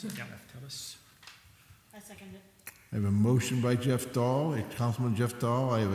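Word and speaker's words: Raftelis: Is that how you pronounce it? Yeah. Raftellus.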